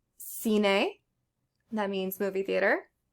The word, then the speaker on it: cine: I is pronounced E as in B, like cine, that means movie theater.